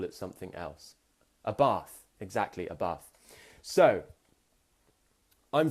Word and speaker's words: Bath: Now, in the north and in the south, we pronounce these words differently.